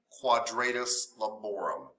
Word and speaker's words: quadratus lumborum: Well, kind of think of it. Yeah, quadratus. Think of it in Spanish.